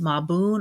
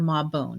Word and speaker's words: Mabon: or Sabbat, which is called Mabun or Mabon, depending on the pronunciation you prefer.